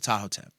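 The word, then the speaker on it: Ptahhotep: black and yellow teachings of Tahoe, but it's spelled like P t h a h o t e p. Nice, right? Teachings of toteep.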